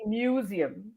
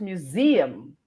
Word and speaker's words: museum: of us say museum, but it's museum.